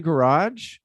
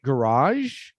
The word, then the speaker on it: garage: okay so so there are two ways that you can pronounce it you can pronounce it garage or garage garage or garage oh actually there's a third way that the weird british pronounce it they say garage they say garage so